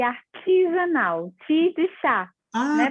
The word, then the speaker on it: Arteasanal: Eu gosto que pronuncie artesanal, ti de chá, Ah, né?